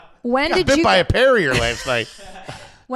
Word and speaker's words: Perrier: Parrier is not bubbly enough. You're saying it wrong. I think you know that right. Perrier.